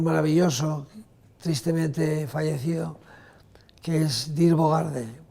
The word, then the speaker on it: Dirk Bogarde: tristemente fallecido, que es Dirk Bogarde, pronunciado, digamos, españolizado, Dirk Bogarde.